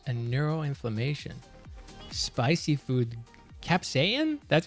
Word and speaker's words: capsaicin: Capsaicin? That's how you say that? But why? So we don't pronounce the C? Because the spelling is cap, S-A-I-C-I-N. Oh, saicin. Capsaicin. Sorry, I didn't even... okay, capsaicin.